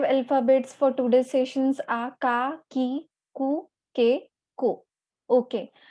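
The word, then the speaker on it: か: And how it is pronounced? It is pronounced as ka. It is pronounced as ka.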